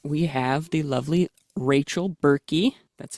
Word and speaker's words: Berkey: co-advisors today first we have the lovely Rachel bery that's how you pronounce it hopefully yes that is correct I